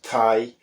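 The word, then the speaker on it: thie: well at the end Tai Tai is the manx word for house which is again it's written t-h-i-e Thai quite phonetically whereas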